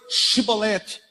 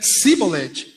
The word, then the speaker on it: Shibolete: E dizendo ele não, então lhe diziam: dize, pois, Shibolete. Porém ele dizia Sibolete, porque não podia pronunciar bem.